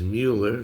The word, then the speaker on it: Mueller: And uh I looked this up and the way to pronounce this name is Mueller.